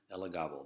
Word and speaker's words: Elagabal: priesthood of Elagabal, okay, which is spelled just like his name, but without the U.S. on the end. Elagabal.